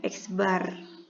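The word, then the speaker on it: x̄: bahasa lainnya rataan atau dilambangkan dengan x yang ada garis begini bacanya eksbar misal data Jadi kalau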